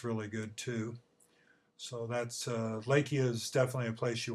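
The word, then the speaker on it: Leakey: If you look at it, it looks like it's leaky, but they pronounce it Lakey.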